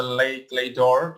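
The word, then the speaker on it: Les Clefs d'Or: But in the meantime, we are giving you an overview for what is Lekledor Indonesia and how do we pronounce it. It's a Lekledor Indonesia, the Society of the Golden Keys, which we are wearing right now.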